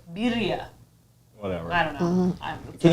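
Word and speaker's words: birria: with yours i've learned i've been saying it wrong they're not berea tacos they're birya whatever i don't know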